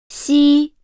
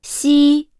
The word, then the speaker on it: 西: Among these three sounds, 西 it is the most challenging to articulate because the tongue does not make contact with the upper palate when pronouncing it. Therefore, when pronouncing 西 it is necessary to quickly control the tongue's surface, maintaining the position and strength of the pronunciation.